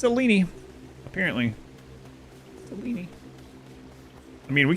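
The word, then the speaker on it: Selene: I'm going to go upgrade very good cor pronunciation selini cini right sine rhymes with weenie these days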